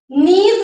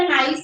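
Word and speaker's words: niece: नेफ्यू का क्या बनेगा, नेफ्यू, नीज बनता है बेटा, प्रोनाउंसिएशन नाइस नहीं पढ़ते इसको, नीज पढ़ते हैं ना।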